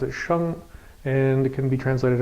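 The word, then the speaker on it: 生: So this is the character, we pronounce it sheng, and it can be translated as life, to grow, to give birth, to engender, and things like that.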